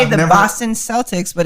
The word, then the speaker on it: Celtic: How come they call them the Boston Red Sox. Celtics, but it's pronounced Celtic?